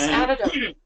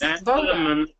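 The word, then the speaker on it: Adytum: Look, I tripped over the builders of the Aditum, I think it's pronounced. Yes, Aditum. Yes, Aditum, and been following their course.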